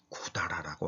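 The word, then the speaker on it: 百済: 그런데 백제는 야구샤이라고 해야 될 것 같은데 구다라라고 합니다.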